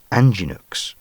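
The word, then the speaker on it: Angénieux: the cinema industry from anginux pronounced anginu and i wonder if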